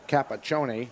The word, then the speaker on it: Capaccione: I thought about the CH and the E is an A sound in Italian. Little overemphasis on the end, but I like it.